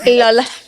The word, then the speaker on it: lol: Lol. There's an emphasis on the last L.